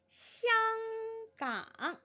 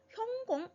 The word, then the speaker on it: 香港: 香港香港. 네, 향이지요. 향기로운 항구라는 의미에서 香港이라고 되어 있는데 이 香港이라는 발음은 중국 본토에서 읽는 발음이지요. 네, 그냥 팁으로 살짝 알려드리는 것은 이 香港이라는 발음을 홍콩에서 광동어로는 형공 이 정도로 읽어요.